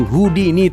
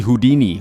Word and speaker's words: Houdini: atau nama lengkapnya Harry Houdini. Houdini alur ya bacanya, bukan Houdini. Salah satu pesulap terbaik sepanjang